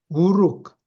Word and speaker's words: 우룩: 도시 국가가 생겨났는데 그중에서 우룩 또는 에레라 발음하기도 해요 우룩이라는 도시에서 홍수가 터져